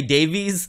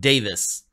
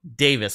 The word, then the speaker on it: Davies: been pronouncing it Ray Davies this whole time that I've covered the Kings but somebody recently let me know hey it's actually pronounced Davis so Davis okay over here we